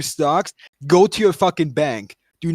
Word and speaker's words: Banque: It's just It's just bank. Like you don't pronounce like the QUE. The French don't pronounce the QUE.